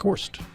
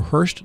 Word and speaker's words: Horst: And then, as speculated, Larry Kump and Chuck Horst, or Hurst, depending on which day you ask Chuck how to pronounce his last name.